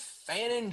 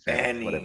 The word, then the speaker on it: Fannin: Harold Fannon. Fannon. Fanning. Fannon. fan in.